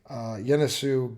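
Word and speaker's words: Ionescu: She's going to be taking on New York Liberty guard Sabrina, and it's a I but pronounced with a Y. Yenesu guard, 5'11".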